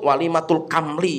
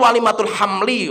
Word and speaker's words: walimatul hamli: Saya tak perhatikan, baca itu walimatul kamli, apa sih kamli ini kan? Akhirnya saya tanya sama orang, ini maksudnya apa itu loh? Oh itu tuh walimatul hamli. Oh hamli, nulisnya kamli kan itu, bacanya kan kamli kan itu.